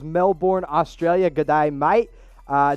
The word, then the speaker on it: Melbourne: this video going up it's melbourne not melbourne they they beat it out okay so melbourne melbourne australia might that's how you say it right there if i get